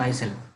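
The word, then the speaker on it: Rouget de Lisle: Marseillaise, and it was written by Roget D. Isel. Okay, Roget D. Isel. Okay, so L is silent, so Isel.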